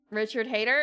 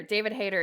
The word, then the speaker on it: David Hayter: Richard Hayter? Is that... No, David Hayter. David Hayter is the... That's how it's pronounced, right?